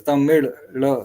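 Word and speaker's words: தமிழ்: dialects within Tamil uh the word Tamil itself is pronounced as Tamil so it's t m i z h t t m i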